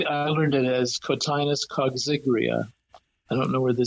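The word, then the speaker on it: coggygria: species the main species grown is called cotinus kria which is an odd pronunciation but especially it's spelled c o g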